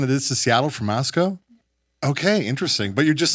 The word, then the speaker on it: Moscow: Pronounced Moscow.